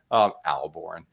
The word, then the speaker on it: Ahlborn: Just if you don't think there's an H, you'll pronounce it correctly.